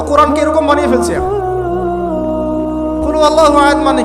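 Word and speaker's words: قل هو الله أحد: এখন দেখুন, এই যে সূরা ফাতিহা অর্থ বুঝলাম না, একটা সূরা পড়ে গেলাম কুল হুয়াল্লাহু আহাদ। কি কুল হুয়াল্লাহু আহাদ মানে কি? এটা উচ্চারণই বা কেমন করে করতে হয়?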